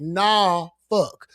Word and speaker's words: Norfolk: it's spelled Norfolk, and I pronounce it nah fuck.